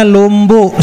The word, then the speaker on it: Lombok: Ah, saya jawab, "Oh, Pak, itu Lombok itu dibacanya Lombok sebenarnya. Jadi, Pulau Lombok itu Lombok."